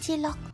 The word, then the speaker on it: Cilok: of once upon a time, when I want to buy Cilok (Indonesian food, pronounced "cheelock") ...but my money was not enough ..and then I borrow brother's money Slap like button now!